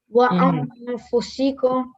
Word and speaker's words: وأنفسكم: I think it's incorrect because there's a noon tanween and fa isn't a letter of izhar, so it should be you should make a nasal sound like wa anfusikum.